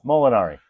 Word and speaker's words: Molinari: Molinari Molinari.